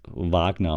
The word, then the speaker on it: Wagner: So, Wagner boys Shaq It It's called It's pronounced Wagner, okay? Moritz Wagner, Franz Wagner, okay?